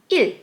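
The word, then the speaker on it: 이: 1 in Sino-Korean numbers is il.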